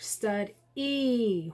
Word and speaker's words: study: Okay, tricky word, stud-E. We hear an E sound, but there is not an E. There's a Y that makes the E sound at the end of this word, okay?